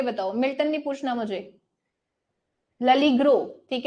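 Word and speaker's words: L'Allegro: वो लड़की, ओके वो ललीग्रो बोलती है इसको, एल एलिग्रो नहीं बोलती, वो कहती है ललीग्रो, मतलब हम एल को अगर अलग बोलेंगे तो वो एल हो गया, तो वो ललीग्रो बोलती है, तो ये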